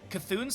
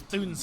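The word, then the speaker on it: C'Thun: You do have uh Kathun's hammer. Yeah, Kathun's gift. Excuse me. Actually, no. I think you don't pronounce the C. I think it's Thun's gift.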